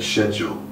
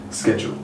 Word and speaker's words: schedule: pronunciations so for example the older generation would tend to say schedule but nowadays i would say like 99 of the younger generation would say schedule me included so your